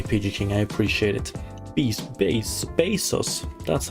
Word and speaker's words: Bezos: Bezos, that's how you pronounce it.